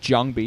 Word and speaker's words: JangBi: be between zero and jangi or jangi if you prefer to pronounce it correctly in the Korean way it's going to be